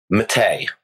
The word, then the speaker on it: Mattei: uh before i forget how do i say your last name mate okay that's easy enough yeah that is easy it's just the common you know american pronunciation there we go all right